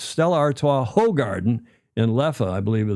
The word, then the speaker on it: Hoegaarden: Is that how you pronounce that? And then Garden. Is it Garden? I can't remember. It's Stella Artois, Hoegaarden, and Leffe, I believe, are the names of those 3 beers.